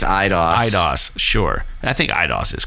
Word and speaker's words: Eidos: I think Eidos is correct, Montreal.